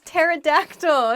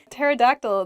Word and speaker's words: pterodactyl: that on my own pterodactyl begins with a p but we don't say the ps just starts with a t sound in a sentence you might say the pterodactyl is my favorite dinosaur